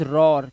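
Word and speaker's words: roar: बाद आर दिया हो, जब किसी शब्द के अंदर ओ ए के बाद अगर आर दे रखा है तो ओ ए का उच्चारण ओ होता है। जैसे दिस इज रॉर। क्या? रॉर। तो यहां पे देखा ओ का साउंड आ रहा है रॉर।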